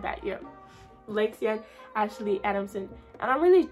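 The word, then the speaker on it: Lexiann: of you don't know my first name is lexian l-e-x-i-a-n-n it does not have an hyphen in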